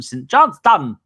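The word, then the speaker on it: St Johnstone: We got him from St. Johnston in Scotland.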